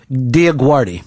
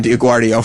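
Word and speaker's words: DioGuardi: Rolling was walking around calling her Diaguardio for the first time. Yeah don't give me any false pronunciations. It'a Diaguardi I watched American Idol every season she on...Diaguardie.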